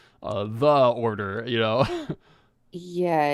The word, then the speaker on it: Ordor: It's The Order, but it's spelled ORDOR. The Order. Order. Okay, yeah. That's better than what I was thinking. So some people are like, the odor? No, the Order.